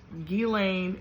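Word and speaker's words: Ghislaine: he had a girlfriend named gilain Maxwell that's how you say her name she came for money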